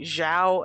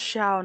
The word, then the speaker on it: Xiao: and i said venti zhao and kazuha oh that's funny but yeah someone in the comments was like it's pronounced xiao not zhao and i was like